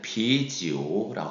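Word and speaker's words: 啤酒: 자, 맥주는 비지오라고 하게 되겠습니다.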